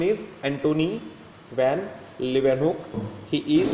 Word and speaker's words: Antony van Leeuwenhoek: Antony van Leeuwenhoek, pronunciation is Antony van Leeuwenhoek.